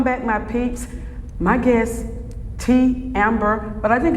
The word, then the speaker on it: Te'Ambera: But that Te'Ambera, Ty had told me that's how it's pronounced, Te'Ambera. But you got the A at the end, At though. the end. Yeah. My mother says it's pronounced Te'Ambria, but a lot of times I just Te'Ambera, yeah. So.